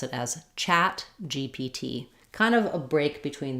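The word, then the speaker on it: ChatGPT: last letter sound so the same rule would hold for um chat GPT where the GPT is stressed on the T we might have some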